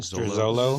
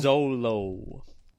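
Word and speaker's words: Xolo: How do you pronounce his name? Like Zolo. Zolo.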